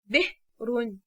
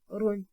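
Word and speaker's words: بئر: And so the word is pronounced as /b'run/. Again, the word is the /b'run/.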